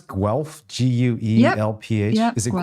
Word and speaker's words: Guelph: Do you know Ian Duncan at the University of, how do you pronounce Guelph? Guelph? Yep, Is it Guelph? Guelph?